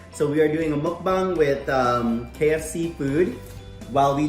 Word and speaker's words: mukbang: I looked it up and it's pronounced the exact same way a Filipino would pronounce it if they read it. So we are doing a mukbang with KFC food while we discuss our topic for today.